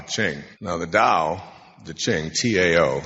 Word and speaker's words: Tao: something called the da D Ching now the Dao the Ching Tao it's pronounced d but it's Tao Tao Ching the